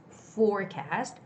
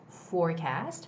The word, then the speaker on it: forecast: and for some koreans i know you guys have a hard time pronouncing the f words right forward do you see my lips it's not touching each other it's forward or it's forecast forecast right unfortunately this word